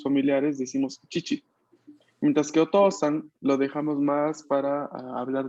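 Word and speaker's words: おとうさん: La O va a ser pronunciada larga, mientras que la U es inexistente. Entonces está ahí solo para indicarme que la O es larga. Por ejemplo, en la palabra otosan.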